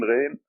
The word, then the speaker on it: Ghain: It sounds like the French R, the French R. Ain, Ghain.